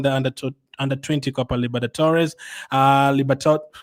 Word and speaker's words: Libertadores: under under 20 copper Libertadores. Uh Libert why do I always have a problem saying that name? Copper Libertadores. That's how you say it.